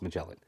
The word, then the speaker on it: Magellan: because I didn't know I forgot how to pronounce it Magellan Magellan Magellan it's Magellan um so super rare borcelino I now have